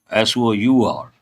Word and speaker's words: sour: When you see that immediately you have to recollect s o a r s o r e s o u r pastu are pronounced the same way.